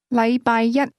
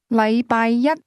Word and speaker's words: 禮拜一: The difference is that the word one used with Monday is pronounced with a high level tone, while the word day is pronounced with a low level tone.